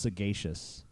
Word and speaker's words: sagacious: want to say that it's actually pronounced sagacious which doesn't make any sense since it comes from the word sage which is a soft G but for some reason